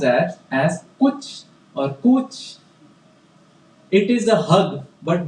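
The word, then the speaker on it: cwtch: spelled as c wt c h but it's pronounced as as pooch or cooch it is a hug but more than a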